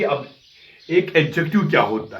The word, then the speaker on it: adjective: और यहाँ आप एक चीज़ याद रखिए प्रोनाउंसिएशन के एतबार से, वो ये है कि ADJECTIVE, यहाँ डी साइलेंट रहता है। तो गलती में, चूंकि इंग्लिश हमारी मदर टंग नहीं है, हम एडजेक्टिव पढ़ते हैं, तो एडजेक्टिव इसका सही प्रोनाउंसिएशन नहीं है, इसका सही तलफ़ुज़ है एडजेक्टिव, डी साइलेंट करके।